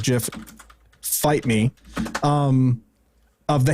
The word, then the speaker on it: GIF: animated gif and yes that is the correct way to pronounce it animated jif fight me um of